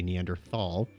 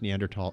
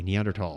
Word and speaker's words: Neanderthal: some people will say neanderthal but since it's pronounced neanderthal in the neanderthal region of germany i'm going to say neanderthal from now on okay